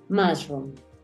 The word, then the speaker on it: mushroom: que ahí salen rojitos mushroom la u suena como una mushroom vamos con el